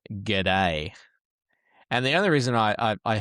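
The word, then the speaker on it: Guede: See, I thought it was pronounced G'day. And the only reason I heard it pronounced like that, and it just reminded me of the Aussie saying, hey, G'day, mate.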